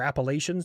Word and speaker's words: Appalachian: inferred because you have the Appalachians or Appalachians, depending on who you are. One of my old team leaders was from Kentucky, and he's like, it's Appalachian. All right, cool. So that's how I pronounce it now.